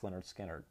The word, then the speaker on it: Lynyrd Skynyrd: This is the Mobile Fidelity Lynyrd Skynyrd, pronounced Lynyrd Skynyrd.